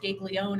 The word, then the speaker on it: Gaglioni: she pronounces it Gaglione, and I said, "Wow, you've Oh, been one of my gosh.